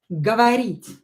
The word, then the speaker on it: говорить: After сады, например, говорить, the verb, говорить. Говорить. Here, E is stressed, this O and this O, they're not stressed. I will pronounce them as A, говорить, and they're in a